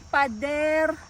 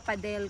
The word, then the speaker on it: Pader: We are in Pader District. Pero ang pagka-pronounce nila Padel kasi hindi nila ma-pronounce yung R.